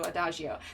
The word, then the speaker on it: Adagio: the Rose and David it's not a hard G it's the other way is it a - you okay - oh yeah cuz of a dog you know that would be the hard G so Adagio that makes more sense who need a sticker